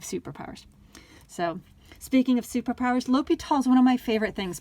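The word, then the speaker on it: L'Hôpital: i hope you love l'hopital's rule as much as i do and i hope you also pronounce it as l'hopital not law hospital so l'hopital's rule is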